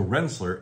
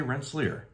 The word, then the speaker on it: Rensselaer: itself sometimes people say Rensselaer and that is accepted or I've even heard locals who've lived there for 50 60 years they've come up with renzler almost a z on the s's there and that is also